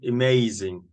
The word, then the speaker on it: amazing: about the pronunciation so here we say amazing you switch the a you say we don't say ah amazing it's a schwa amazing yep unexpected stress is